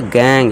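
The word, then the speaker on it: gang: पे क्या हो जाएगा, गा, ना कि जा। तो क्या पढ़ेंगे इसे, गैंग, गैंग यानी कि टोली।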